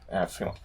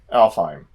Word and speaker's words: Alfheim: Or affilium. How do you pronounce it again? Alfheim? Alfheim. That's what he said.